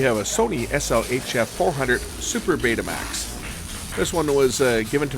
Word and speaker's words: Betamax: Some people pronounce it Betamax. Others will pronounce it Betamax because, hey, when you've got two vowels together, you get normally the long sound. So Betamax may be the actual way to pronounce it. But I call it Betamax.